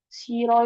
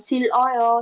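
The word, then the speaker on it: 싫어: Bukan sil oyo sil oyo gitu tapi siro siro siro siro ikut halnya jika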